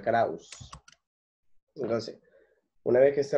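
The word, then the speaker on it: Krause: Se pronuncia Krauss.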